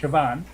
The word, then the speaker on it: Siobhan: You know, my name is spelled Siobhan, but it's pronounced Siobhan.